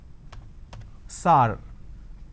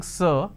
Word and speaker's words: sir: changes of this world majority of the people pronounce the word sir as Saur Saur can you please answer my questions so instead of saying sir they say sorry so this is a